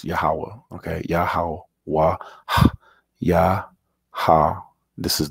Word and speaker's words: Yahweh: And when it's written out, it's pronounced Yahweh, Yahweh. But in English, as you'll see, it's pronounced Jehovah, Jehovah. Now, the issue is that we have no J in Hebrew. We have no O in Hebrew. And we have no V in Hebrew.